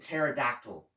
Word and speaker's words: pterodactyl: Behold the magnificent pterodactyl. That's ptero in the cards of the very same name. Dactyl, the cousin of the spondee, trochee, and iambic pentameter. Spell it. P-T-E-R. Oh yes, the P is silent as in swimming in the ocean.